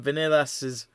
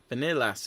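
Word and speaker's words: Viñales: Vanilas. It just sounds like Vanillas to me.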